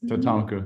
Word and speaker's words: Tatanka: I want to say t tat tatonka yes tatonka did I say it right you got it